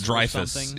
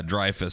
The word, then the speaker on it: Dreyfuss: Dreyfuss? Dreyfuss. Yeah, Dreyfuss. Spelled like Richard Dreyfuss's last name.